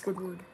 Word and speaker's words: Squidward: no not yet actually it's not squish squ it's Squidward okay it's hard how